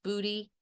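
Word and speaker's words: Buti: the last time but she said it's spelled b-u-t-i but she said it's pronounced booty and it might as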